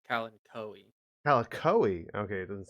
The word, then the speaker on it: Kalanchoe: Just please, like, So be apparently it's pronounced Kalanchoe.